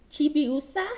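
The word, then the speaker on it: Chibiusa: Chibi Moon chibi us Chi chibi USA I think it's how you say it um sailor Moon's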